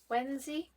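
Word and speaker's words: Wenzhi: The cards are illustrated and feature the Xingyin as the Fool, which is this one, and Wenzi, I believe is the pronunciation here, and they are characters from Daughter of the Moon Goddess, which was last month's book.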